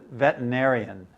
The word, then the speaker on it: veterinarian: I always thought it was very interesting the way it's spelled veterinarian. This is spelled correctly. But uh when we say it in in English, we just say veterinarian. We don't somehow we skip the er.